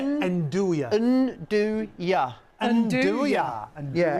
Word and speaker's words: andouille: And how do you say andouille?